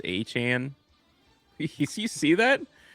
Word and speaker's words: Etienne: You know, he says his last name is pronounced Achan.